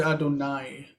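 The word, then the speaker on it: אדני: say Adonai. Ishmael Kol Adonai. With Patach, not with Kamatz.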